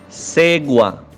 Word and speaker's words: Segua: sabia como se pronuncia, está escrito Segua, Ségua, Seguá, não sabemos como se pronuncia. Portanto, o Zé estava lá e perguntou para o garçom. E ouçam o que ele disse. Segua, cerveja Segua.